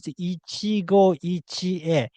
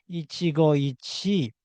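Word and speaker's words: 一期一会: The correct way is Ichigo Ichi E. Ichigo Ichi E is the correct phrase, not Ichigo Ichi.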